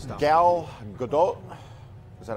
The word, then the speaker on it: Gadot: So, All right, Gal Gadot. Is that how you say it? Gadot? is that right? It's weird. It's not really. If you say it with the accent, it's like Gadot. It's supposed to be.